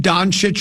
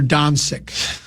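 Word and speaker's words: Dončić: Should we call him Donich or Donsick? cuz you know Rosen says he uses both pronunciations just depends what kind of mood he's in.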